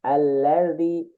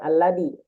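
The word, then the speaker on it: الذي: Sedikit lagi zi-nya. Allazi. Ujung lidah ke ujung gigi atas. Allazi. Alladzi. Bener nggak Pak Ustadz? Bukan. Bukan alladi. Allazi. Zi. Ujung lidah ke gigi zi. Zi gitu.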